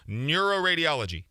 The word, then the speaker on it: neuroradiology: a lot of words neuroradiology neuroradiology seven syllables yeah don't put the